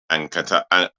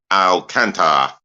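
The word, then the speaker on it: Alcântara: was kicked by he was kicked by Thiago Alcantara. How do I pronounce his surname? Alcantara.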